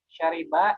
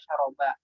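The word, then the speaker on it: شرب: Syariba ini kita baca dengan roknya kasroh ya, yang Syariba. ya menggunakan bahasa fusha ya. Meskipun ada di lahjah lain ada yang membacanya syaroba ya. Tapi kita gunakan yang resminya. Ya, yang juga digunakan di dalam Al-Qur'an dan hadis itu roknya dengan di kasroh.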